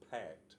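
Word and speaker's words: PACS: which pronoun is is pronounced something very similar to pack which is p a CS so and pack what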